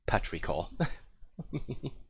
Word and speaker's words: petrichor: Petrichor. That's how you pronounce it.